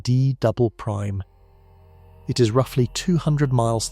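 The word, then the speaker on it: D″: It is called the D layer, pronounced D double prime.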